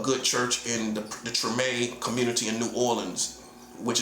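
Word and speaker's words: Tremé: You can go look it up, the TMA community. That's spelled T R E M E and it's French. So, it's TMA, right?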